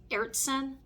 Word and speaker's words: Aertsen: painting or one of I believe the last name is pronounced ertson if I mispronounce the